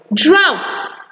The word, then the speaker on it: drought: Most words that actually have that spelling symbols in them are actually pronounced in that manner or pronounced with the ow sound.